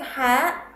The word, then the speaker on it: حاء: بقول لك حاء مثلا when you it's like this hand when you make your throat clear or when you clear your throat like this in this way.